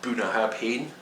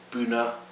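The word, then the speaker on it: Bunnahabhain: this one's a classic it's not buna happen it's buna this one is um mouth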